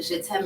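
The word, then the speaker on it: Jet'aime: catering company is shit's ham catering and what shitem means is I love you in French love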